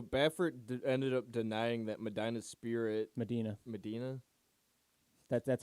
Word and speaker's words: Medina: It's Medina if you're from Ohio. Medina. It's the way you pronounce it.